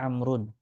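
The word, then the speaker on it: عمرو: W yaalu abuka ya Amr nah ini Amr dibacanya kalau ada wunya di belakangnya itu dibaca amrun kalau tidak ada wunya berarti umaru Q ahadumala berkata kepadaku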